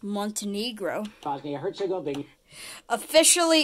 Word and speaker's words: Montenegro: Montenegro and it's pronounced Montenegro.